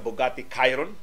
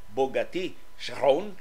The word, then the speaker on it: Bugatti Chiron: Doon natin latest in kontrobersiya sa Bugatti Chiron o Bugatti Chiron, depende sa unsay imong gusto nga pronunciation, French ba o Italiano ba? Kining ato Americanized kining maong pronunciation.